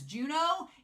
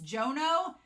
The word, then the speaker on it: Jono: Speaking of which, Stacey said that I've been saying his name is Juno. It's Jono.